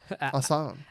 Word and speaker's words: Aslan: Aslan. Aslan. Aslan or Aslan? I think it's pronounced like you're saying, but Aslan is the lion from Chronicles of Narnia. Oh. So it's easy to remember Aslan.